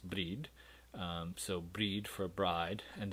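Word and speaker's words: brȳd: course is a bride in earlier english spelled with a y and pronounced breed so breed for bride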